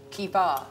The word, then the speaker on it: Kiva: She said it's like Diva with a K. I don't pronounce ER anywhere. No, but the way she pronounces it is still different from the way you pronounce it. She really puts so much stress on the A.